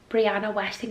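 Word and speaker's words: Brianna Wiest: I always speak highly of Brianna Westing, that's how you say her name.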